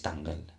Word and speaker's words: Tangle: los oyentes es tangle que sí que es tangle correcto de hecho Exacto se escribe por si lo queréis Buscar porque realmente